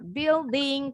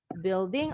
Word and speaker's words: building: Building, tadi pengucapannya betul. U-nya hilang ya, silent. Building artinya gedung atau bangunan.